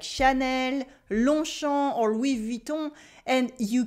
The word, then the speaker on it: Longchamp: We also have a silent G and a silent P because un long champ is literally a long field. The G and the P is silent in each of those words. And when the words are mashed together to form a noun, we keep their pronunciation.